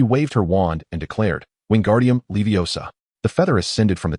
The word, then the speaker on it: Wingardium Leviosa: Wingardium Leviosa, Ron shouted. You've made a mistake, Hermione began to correct him. It's Wingardium Leviosa. The gar must be pronounced clearly and distinctly.